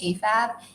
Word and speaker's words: AFAB: at birth, for which the acronym is AFAB, pronounced AFAB, and assigned male at birth, for which the acronym is AMAB, pronounced AMAB.